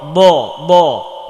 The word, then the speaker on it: ضاد: স স সদ, صاد হ্যাঁ দ, এটাও মোটা হরফ দ দ দদ। ضاد এখানে লক্ষ্য করার বিষয় হচ্ছে এখানে যদি আপনি দ দ এবং মোটা করে না বলতে পারেন তাহলে এখানে